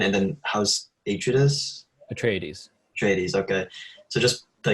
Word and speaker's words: Atreides: How do you pronounce that? That's correct. Okay, Harkonnen, and then House Atreides.